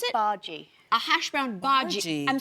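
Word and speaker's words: bhaji: Uh we are going to start with the first dish and it is a hash brown uh how do you pronounce it? Baji.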